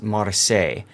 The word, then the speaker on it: Marseille: Yes, it's pronounced Marseille. Yes, I understand how to pronounce it. Okay? But we call it the Marsilli because of just how darn silly it is.